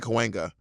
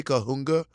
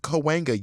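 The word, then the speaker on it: Cahuenga: them don't make sense and they're hard to pronounce it took me a while to get kawanga uh-huh and L.A people are not chill about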